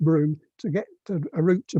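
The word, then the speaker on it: Brougham: a route bro braun by the way it's pronounced broom to get a route to broome in to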